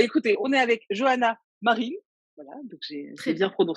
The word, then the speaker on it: Marines: Alors, je ne sais jamais si on prononce le S de ton nom de famille. On le prononce Non, pas.